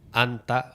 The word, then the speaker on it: 앉다: Anta. Oh, tá parecendo anta.